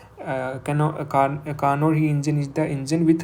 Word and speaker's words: Carnot: Okay, so Carnot heat engine की क्या, one more thing, the T is silent in the pronunciation of Carnot.